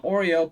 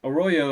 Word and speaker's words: Arroyo: I like to call him Oreo, but Arroyo, I believe, is exactly how you're supposed to pronounce it.